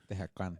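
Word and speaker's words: Tehuacán: Tehúacan.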